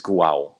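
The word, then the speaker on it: Guo: he tweeted yeah yeah I pronounce the goal but it may be pronounced in in Chinese is guao or something like that right um but but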